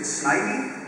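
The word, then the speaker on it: Snivy: I chose I think is it snipy is that okay just you know by like ah um snippy sidy really cuz nobody knows how you say it right you you're a child how do you say it the first way I said it what was the first way I said it SN okay good yay Pikachu so that's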